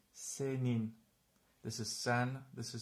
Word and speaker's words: senin: So, e and n are not in the same syllable, so we pronounce this senin.